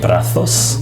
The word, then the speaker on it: brazos: of old Spanish language I hear him say "brazos" lisping the letter "Z" but he doesn't lisp